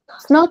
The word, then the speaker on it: snart: Вот произносить вот это RT, как только Т, да? И тогда будет snart, snart, длинное о.